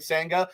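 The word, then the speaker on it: Senga: the bare minimum and his name sounds like Sanga. It's how Mike Francesco pronounced Sanger.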